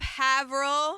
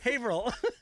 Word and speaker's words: Haverhill: What's up, HAVIL? HIL, WHAT'S UP? That's wrong. That's wrong. It's wrong. It's wrong. What is it? Haverhill. Haveril.